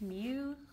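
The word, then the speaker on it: μ: Greek letter Mew and we'll just pronounce it like Mew like if you like Pokemon there's Mewtwo just cut out the two and just it's a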